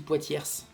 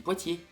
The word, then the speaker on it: Poitiers: quand vous dites m est ce qu'on dit poids tierces on dit parfois tierces dit poitiers il ya des lettres qui sont muettes ne prononce pas tous